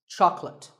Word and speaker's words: chocolate: this at the store make sure that there are only two syllables Chuck and let chocolate and remember there is no late in chocolate speaking of chocolate how